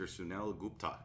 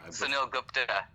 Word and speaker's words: Sunil Gupta: Sunil Gupta. Did I say that right? No. No? Not at all. I butchered it. Sunil Gupta.